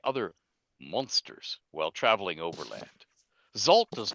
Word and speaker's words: Xalt: and especially halflings, Uzalt, more often called simply Zalt, pronounced, Zalt, as if it's XALT, short form, but pronounced as if it was ZALT, is a solitary hunter who